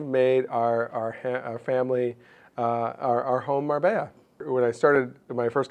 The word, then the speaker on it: Marbella: They were like, first of all, Razor, it's pronounced Marbella. And you don't need to say Spain. Everybody in Europe knows that it's Marbella.